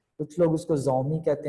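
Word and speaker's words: Xiaomi: तो थोड़े से उनको बोलना जो है, उनको प्रोनाउंसिएट करना ये थोड़ा मुश्किल होता। एक ब्रांड है चाइना का जो मोबाइल बनाता है, शाओमी। कुछ लोग उसको जोमी कहते हैं, कुछ लोग उसको शाओमी कहते हैं,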